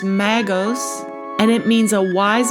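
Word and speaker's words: μάγος: Blue Letter Bible, and that word is Greek, and it's pronounced magos, and it means a wise man or sorcerer.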